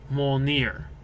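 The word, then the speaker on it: Mjölnir: Mjolnir is what his hammer is called. I didn't realize it actually had a name, but it's Mjolnir is how it's pronounced.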